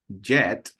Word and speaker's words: jet: the pronunciation okay so jet with a strong sound at the beginning that will be a